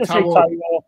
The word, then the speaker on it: Taiwo: Stephen, can you pronounce the striker's name? Big T. Taiwo, is it? That's it, Taiwo.